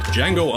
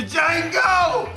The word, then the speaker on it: Django: The Django! You black son of a bitch! The D is silent here, baby.